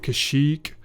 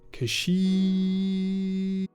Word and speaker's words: Kashyyyk: And I think it's pronounced Kashyyyk.